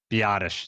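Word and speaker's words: Biadasz: Biatish.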